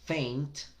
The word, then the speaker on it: faint: Cuando la combinas, en este caso faint, con la vocal I, entonces la A tiende a sonar como una E combinada con I. Faint, fey, ain't, faint.